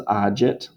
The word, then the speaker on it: agit: This is agit, but this is actually agunt. So sorry that's confusing, but this is going to make a j sound here, but it's going to make a g sound here.